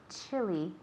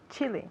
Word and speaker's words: chilly: Chilly. Chilly. Chilly. Remember it's not chilly, it's chilly. Chilly. It's a short I sound.